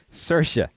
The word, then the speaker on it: Saoirse: You spell it out, it's Siorse, so what would that really be in Gaelic, based off what I know? Sioshe. Soche. What is it? Saoirse. Oh, Saoirse. Isn't she the queen?